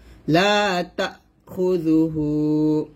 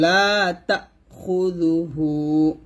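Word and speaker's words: لَا تَأْخُذُهُ: জবর তা, ধাক্কা দিবেন, লা তা খুযুহু লা তা খুযুহু, হুতে এক টান দিবেন, দেখুন লা তা খুযুহু, এখানে এই যে কমাটা দিয়ে এই হামজার উচ্চারণটা বোঝাইছে, লা তা খুযুহু লা তা খুযুহু, এরকম।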